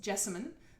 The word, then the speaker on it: Jessamine: pronounce my name great it's jessamine there's three syllables and some I don't